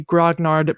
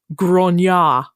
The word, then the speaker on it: grognard: will tell you that the original pronunciation of this word is not actually grognard but grona oh it's French of